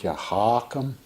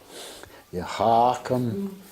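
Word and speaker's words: يا حكم: do these two names yahakam with the emphasis on the first syllable you know it's not you're not coughing uh you hawk them and then yaha keem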